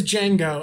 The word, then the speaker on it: Django: Is it pronounced Django? It is Django, and Django is absolutely just based off of Michael Jackson.